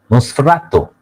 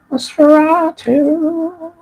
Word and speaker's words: Nosferatu: Is it the proper pronunciation? Nosferatu? Nosferatu. How do you say it exactly? Nosferatu? Nosferatu. Nosferatu. Nosferatu.